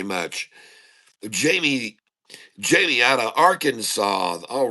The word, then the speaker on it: Arkansas: That sure looks like our Kansas to me. Just saying. And uh anyway, but Arkansas Nice. It's got the silent S on it, folks.